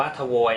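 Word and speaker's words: твой: ให้ เป็น นะ ฮะ อัน นี้ อ่าน ว่า ทวย นะ ครับ สระะ 2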